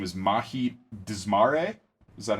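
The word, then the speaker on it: Dzmare: Yeah, and our main character, whose name is Mahit Desmare, is that how they pronounce it?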